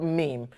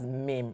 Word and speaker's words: meme: says the world the the word meme is pronounced as meme not me you are not a